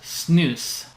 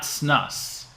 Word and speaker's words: snus: The word S-U-N-S is pronounced snus, not snus. The last video I did, I said snus, and somebody corrected me.